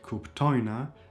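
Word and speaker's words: kuptojnë: If there's a gig form like kuptojna, it is the penultimate syllable.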